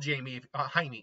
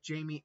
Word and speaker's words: Jaime: The Scarab can act on its own if Jamie... I keep saying Jamie. It's spelled Jamie, but it's pronounced Jaime.